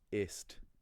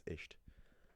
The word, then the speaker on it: ist: You can't learn German and say, oh, ist, that's too much effort to remember that spelling rule, I'm just gonna pronounce it as isht.